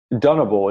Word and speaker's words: Dunable: kind of RAB and play guitar D say dunable it's it's spelled duu n a b l e it's